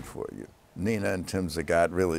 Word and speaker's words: Zagat: Nah and Tim Zagat. Really? It's marvelous. You know, it's incredible. You pronounce our name correctly. That's because we're old friends. Well, we can full disclosure. Nobody know. Everybody calls us Zaget.